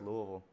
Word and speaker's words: Louisville: and now I mean that's just how you say it it's Louisville Louisville for sure and uh it's maybe